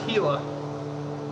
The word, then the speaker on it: Gila: Oh, I forgot, it's pronounced Gila. Hey, Mongo, good to have you here. Yeah, it's Gila.